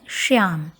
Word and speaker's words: श्याम: ध्यान रहे तालव्य शकार का उच्चारण करना है श्याम। तालु को जिभ छुआते हुए बोलेंगे।